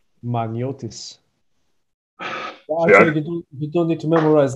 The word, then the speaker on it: Maniotis: i'm not familiar with could you give us your last names for them magniotis you don't need to